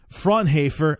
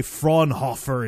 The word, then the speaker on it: Fraunhofer: Basically what happened was Fraunhofer, I'm guessing that's how it's pronounced because it's a German company, and there's